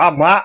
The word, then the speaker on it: Amá: Amar, A-M-A, né, oxítona, significa mãe.